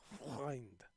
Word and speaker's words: Freund: Freund. That's the tough one in Germany. That the vowels.